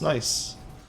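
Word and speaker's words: gneiss: is spelled GN e i SS it's that's pronounced nice I learned that in geology one time I was always one I was always wondering how you would say it and it turns out it's it's nice and notice how nice took way less time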